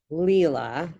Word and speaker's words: Leila: All right, Solares, how do you say your name? Leila. Leela. Okay, it's more Leela.